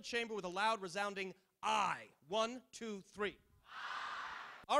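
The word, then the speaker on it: aye: yay or nay vote they tend not to say yay or nay because yay or nay rhyme so I or no is how you pronounce it if you don't want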